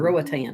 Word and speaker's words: Roatan: Rogabatan or Roatan. Rowatan or whatever it is.